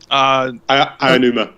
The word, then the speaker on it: Aonuma: Aonuma.